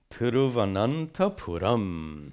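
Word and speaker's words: Thiruvananthapuram: This is a question from Radhika, who lives in Tiruvananthapuram. How's that? Not bad. In Kerala. Did I pronounce it correctly? Perfectly. I live there. You live there? Good. Okay. But is this a Tamilian word or Malayalam word? Okay. It modern, you know, the British called it Trivandrum. Why did the British call it Trivandrum? They couldn't pronounce Tiruvananthapuram.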